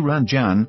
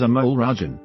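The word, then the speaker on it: Amol Rajan: So Ranjan, what do you think?" The correct pronunciation is Amal Rajan.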